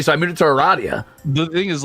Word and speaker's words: Aradia: And it's so unfortunate that Andrew said Aradia, and it is Aradia. That's how I said it forever, and then everybody kept correcting me, so I moved it to Aradia.